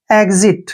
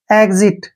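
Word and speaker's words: exit: ई vowel आया है जब भी एक्स के बाद वावल आता है तो एक्स का उच्चारण गज के रूप में किया जाता है नेक्स्ट वर्ड है ई एक्स आईटी इसको पढ़ेंगे हम एग्जिट क्या पढ़ेंगे एग्जिट ऐसे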